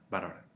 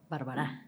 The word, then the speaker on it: Barbará: Estamos en Tópica Radio y hoy tenemos de invitada a Tania Bárbara, ¿verdad? Bárbara.